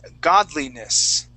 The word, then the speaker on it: godliness: that one more time we're going to say god lee-ness godliness godliness godly godliness godliness godliness